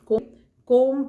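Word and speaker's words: comb: कोम में बी जो है वो साइलेंट है, बी नहीं बोला जाता, कॉम बोला जाता है, ब बोला नहीं जाता।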